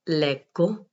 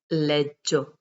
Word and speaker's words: leggo: Io leggo. Here we will not pronounce leggio, so pay attention. Io leggo, tu leggi, lui legge, noi leggiamo, voi leggete, loro leggono.